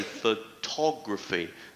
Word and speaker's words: photography: the second syllable sincere photograph the stresses on the first syllable however we say photography the stress jumps to the second syllable instrumental instrumental stress is